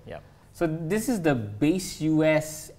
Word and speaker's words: Baseus: So this is the Base US. How do you pronounce that brand? Baseus.